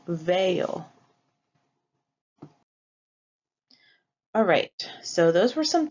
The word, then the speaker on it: veo: It would be Vo, but for pronunciation reasons, Spanish changes that to veo.